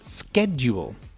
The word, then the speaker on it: schedule: So yes, there is a shed. that wooden house at the bottom of your garden to keep your lawn mower and tools in in the British pronunciation of the word schedule.